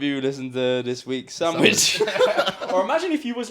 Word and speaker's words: Samwij: But not how you think sandwich is spelt. SAMWIJ. Sandwich.